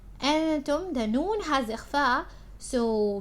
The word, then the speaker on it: أنتم: Now with again you can see as is the hamza present here, so make sure you're pronouncing it. You're saying أنتم. أنتم, the noon has إخفاء, so make sure you're pronouncing the إخفاء correctly.